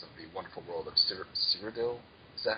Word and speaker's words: Cyrodiil: the fine details of the wonderful world of Cyrodiil. Is that how it's pronounced? Cyrodiil. Cyrodiil, yeah.